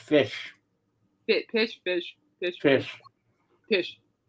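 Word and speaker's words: Phish: Now, Pish had the most fan votes with 327,34 while Bill was third with 258,718. Okay, that's actually pronounced fish.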